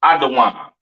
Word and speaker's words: Edom: Edom, Idawam, the devil that the Bible speaks of, your oppressor, the so-called Caucasian man, woman, and child, pronounced Idawam.